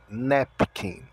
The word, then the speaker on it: napkin: vocabulário que é guardanapo nepin O a tem o som de E o restante tudo tem o mesmo som da escrita então guardanapo eu preciso